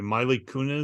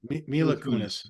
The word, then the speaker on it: Mila Kunis: Miley Kunis. Is that how you say her name? Mila Kunis.